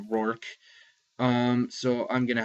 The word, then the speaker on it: Roarke: where it was the same spelling and it's pronounced roor um so I'm going to have to pronounce